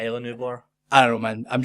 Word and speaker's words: Isla Nublar: So our synopsis goes as follows: a volcanic eruption threatens the remaining dinosaurs on the island of Isla Nublar. That's how they pronounce it in the film.